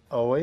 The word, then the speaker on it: Ahoy: Ahoy. Ahoy? Yeah. Like almost like ahoy, kind of?